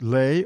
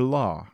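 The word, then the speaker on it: לא: Thou shalt not is the Hebrew word lamit Alf pronounced Le or La composed of two letters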